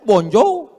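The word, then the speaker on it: bonjour: Emangnya bahasa Prancis mudah tulisannya bonur bacanya bonjou. Bon soir, bonso jangan pelajari bahasa-bahasa orang kafir ini.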